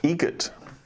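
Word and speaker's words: Eget: Adam Egret. Egret. Spelt differently. Like the bird. That's Egret. Do you know what Adam Egret has in common with a guitar player? Adam Egret has in common with a guitar player.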